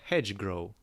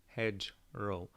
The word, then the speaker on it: hedgerow: the base of a hedge grow sorry i missed i missed i mispronounced the world along the base of a hedge grow off i said it again hedge row okay along the base of